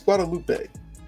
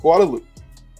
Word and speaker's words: Guadeloupe: in Group D, so currently, I always say Guadeloupe. I don't think it's Guadalupe. I feel like that's like a Hispanic name. So I believe it's pronounced Guadeloupe.